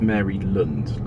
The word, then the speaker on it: Maryland: about cookies it's pronounced Mary lond a bit like England Maryland yeah well the the the air is is like Mary as in Merry Christmas not Mary my Aunt Mary according to Maryland Maryland